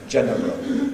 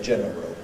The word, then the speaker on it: general: Personally, I've got to make a word like general 2 syllables. I don't really have an option general, but I'm aware that other people can say general.